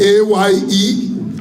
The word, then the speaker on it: aye: means no I is I is spelled as a-y-e you got a point